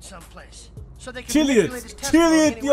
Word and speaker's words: Chiliad: Chiliad diye okunuyormuş. Chiliad diye okunuyormuş. Mount Chiliad diye okunuyormuş. Chiliad diye. Aaa çok rahatlıyım şu anda bunu nasıl okuduğunu öğrendikten sonra.